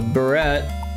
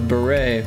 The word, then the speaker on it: beret: A a barret. Or is that pronounced beret? A beret.